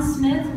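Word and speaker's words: Smythe: And from these humble beginnings, from the, as we know, John Smith, not, it's spelled differently, S-M-Y-T-H-E, and Roger Williams, the founders of the Baptist Church.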